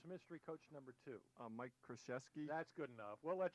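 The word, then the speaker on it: Krzyzewski: though who was mystery coach number two Mike kesy that's good enough we'll let you have that one because I can't even pronounce that it's Shashi so it's 12 to 11 now for a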